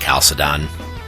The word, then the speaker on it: Chalcedon: And by the way, sometimes I heard it pronounced Chalcedon. I don't know. I took a Eastern Orthodox theology class when I was at the University of Michigan. I think that guy, the great John Meyendorff, pronounced it Chalcedon.